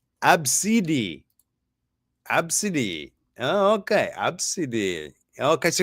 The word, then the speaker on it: Abcde: Here's the pronunciation. It's Absidi.